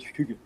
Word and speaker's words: hygge: I usually call it hygge.